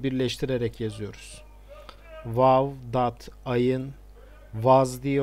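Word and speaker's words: وضع: Vav, dat, ayın, vaz diye okunuyor.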